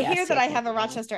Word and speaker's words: Rochester: don't hear it, but I guess that means we have a broad A. So I guess other people say, I don't know how they say it, Rochester. We say like Rochester. So like Rochester. Yeah. Rochester. I guess that's our accent.